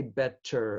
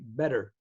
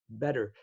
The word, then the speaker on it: better: Americans don't say better. Americans say better, better. And so that's a change, the T in the middle of a word.